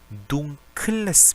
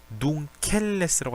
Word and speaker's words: dunkles: Ich hätte gerne ein dunkles Bier라고 했죠. dunkeles라고 하지 않았습니다.